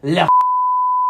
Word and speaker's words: Likert: I think it's pronounced like it. That is what I said. Likert.